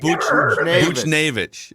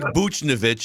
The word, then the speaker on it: Buchnevich: saying who's this davis it's pavel butcher yeah it looks it looks like buchnevich if you want to go with that pronunciation calls him butch